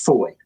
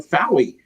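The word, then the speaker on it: Fowey: It's pronounced foy. I would never know this. I'm like river fouie.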